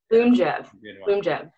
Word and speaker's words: Lyumjev: Lyumjev, which was just approved like a couple weeks ago.